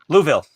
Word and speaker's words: Louisville: Louisville. It's like Whoville.